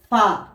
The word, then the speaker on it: فاء: ফা উচ্চারণ হয় আপনার আলিফের মতো, অর্থাৎ এই দাঁতের আগা, উপরের দাঁতের আগা ঠোঁটের এই ভিজা অংশের সাথে লাগবে, নিচের ঠোঁটের। ফা ফা ফা।